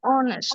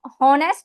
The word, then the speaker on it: honest: good excellent नेक्स्ट time होनेस्ट नहीं बोलना एच नहीं बोलना ओ से शुरू करना है ठीक है स्टार्ट विद ओ